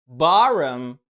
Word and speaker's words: bottom: لا طبعا، خليني انطقها لك ار وركز كده في النطق. بارم.